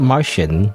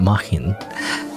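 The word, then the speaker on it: Märchen: It's not Martian, not like Mars, like aliens, but Mahin.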